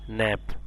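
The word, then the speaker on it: knave: এরপর কে এন এবি যেহেতু কে এর সাথে এন আছে কে এর সাউন্ডটা সাইলেন্ট থাকবে অর্থাৎ কে এন এর সাউন্ডটা দন্তন হিসেবে আসবে কে এন এভি এটা হচ্ছে কি ন্যাব নব মানে কি ন্যাব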